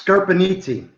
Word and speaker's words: Scarpiniti: you say your last name pete is it scarborough nittany it's scurpinity right okay it's capable it's skirts in an